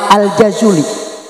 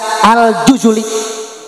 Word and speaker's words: al-Jazuli: Orang yang menyusun Dalailul Khairat adalah Syekh Sulaiman Al-Jazuli. Siapa? Hmm. Ya. Namanya adalah Syekh Sulaiman. Namun, ada juga yang membacanya sebagai Sheikh Sulaiman Al-Jazuli. Sebagian orang membacanya Aljazuli, sebagian lainnya membacanya Aljuzuli.